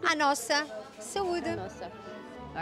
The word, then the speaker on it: saúde: Saúde, but like to your health, like health. Yeah. Saúde. A nossa. Saúde.